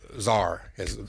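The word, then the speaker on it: czar: she was the Border how do you say it SAR or Zar Zar I'll say it with a z why don't they you spell it Z so idiots like me say correctly and then there's the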